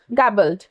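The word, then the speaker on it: garbled: गैबल्ड। ठीक है? आर है बीच में लेकिन बीच में थोड़ा सा साइलेंट रहता है आर। तो गैबल्ड हम इसको प्रोनाउंस करेंगे।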